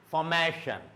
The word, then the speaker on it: formation: Before shun, the syllable is ma, formal, formation, formation. So this ma, it should go up.